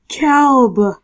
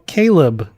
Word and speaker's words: Caleb: No, Caleb. So close. You said Calb as if like James. There's no such name like that. Yeah, there is. It's called Caleb. You're just pronouncing it weird.